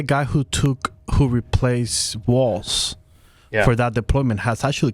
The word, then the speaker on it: Walz: this is what Tim Waltz said and I've heard it pronounced walls or Waltz like a like the dance which is correct do we